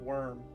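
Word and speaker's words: Wyrm: into the city of Worm. oh, that's good. That's spelled W-Y-R-M, right? Or is that W-O-R-M? No, you got it right the first time. Oh, like dragons.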